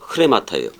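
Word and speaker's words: ῥήματα: 레마타라고 되어 있는데 흐레마타예요. 발음이 원래가. 흐레마타 해보세요. 흐레마타. 거기 위에 쉼표가 거꾸로 붙은 게 원래는 레 이렇게 얘기해야 되는데 그 쉼표를 붙여보면 흐가 돼요.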